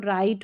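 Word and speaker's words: write: है शुरू वाला साइलेंट है एन से जो पहले है डब्ल्यू आर को र करके पढ़ना है डब्ल्यू साइलेंट है तो राइट हो गया यहां पर भी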